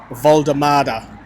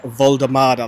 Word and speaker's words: Woltemade: can probably tell by the way I've been pronouncing his name that it's Voldemada. So, I've been told in the comments, I've been told on social media that it's Nick Voldemada.